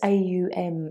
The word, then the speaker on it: Om: So when you literally open your mouth and make a sound, it's ah, and then as your mouth closes, it turns into ooh, and then when the mouth closes completely, that's the M. So it's a nice way of sort of refining how you Om. So think of it as AUM, and the amount of time that you spend with the A, the U and the M part does have a significance